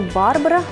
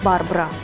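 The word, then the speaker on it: Barbra: Имя дивы вовсе не Барбара, а Барбара. Так и только так.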